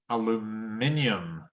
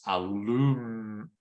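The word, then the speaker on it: aluminium: Caribbean Caribbean was uh yeah in British English aluminum was uh in American English is aluminum aluminum oh I think actually they actually sometimes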